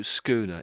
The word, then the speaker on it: schooner: So schooner, it's a type of boat. You remember there was the other one you had brigatine. Briotine, wasn't it? So this one's a schooner.